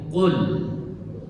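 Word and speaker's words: قل: Jadi ini qul.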